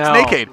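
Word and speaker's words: NACD: you're good yeah y nakade spelled with a c yes absolutely not naked not naked uh yeah second time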